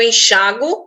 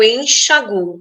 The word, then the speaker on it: enxaguo: Eu posso dizer eu enxago ou eu enxaguo.